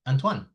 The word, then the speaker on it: Antoine: It's a French name. Your parents probably say, "No, his name is Antoine." Because that's the pronunciation. Antoan.